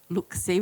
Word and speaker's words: LOOC-C: So that can be done on a website called Look-See, which is a CSIRO website. It's spelled LOOC-CE.